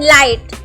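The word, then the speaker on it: light: यहां पर साइलेंट हो गया सेकंड सैंपल है लाइट लाइट की स्पेलिंग है एल आई जी एस टी लाइट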